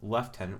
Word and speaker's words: lieutenant: officer so that's lieutenant and after we have left tenant we get to the rank of captain so